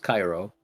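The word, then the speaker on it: Chi Rho: It's pronounced Cairo.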